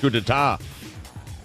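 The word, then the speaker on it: coup d'état: drummer over a wedge coup d'etat what what a coup know what we can't believe is that you pronounce that correctly what is happening right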